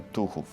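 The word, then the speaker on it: Tuchów: tem e o Santuário de Nossa Senhora de tuhu aham assim se pronuncia tuu um santuário aonde também as famílias e as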